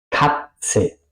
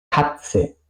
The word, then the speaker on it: Katze: Katze, Katze, gato. Sitzen, sitzen, estar sentado, estar sentada. Aquí podéis ver, se pronuncia más o menos como una T y una S, ¿ok?